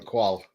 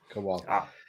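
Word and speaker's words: Kuol: That's how you pronounce it, John. Kwal. Yeah. Kwal.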